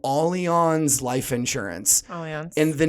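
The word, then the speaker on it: Allianz: a really big insurance company up here called aleon's life insurance and the name itself you when you look at it if you're not familiar with them almost people will say alliance because it's a-l-l-i-a-n-z yeah nothing makes you look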